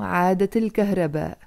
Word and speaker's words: عادت الكهرباء: And when it comes back, you say عادت الكهرباء, عادت الكهرباء, pronounced together with a liaison, عادت الكهرباء.